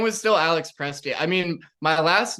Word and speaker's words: Prestia: And you pronounce it Prestia, which is, of all the hundreds of pronunciations I found, I didn't ever guess that.